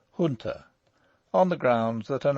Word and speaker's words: junta: have chosen to use the pronunciation junta rather than the more correct junta on the grounds that